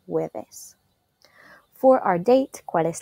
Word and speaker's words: jueves: Even though it's spelled with a J, we pronounce the J U sound as a W in Spanish, jueves.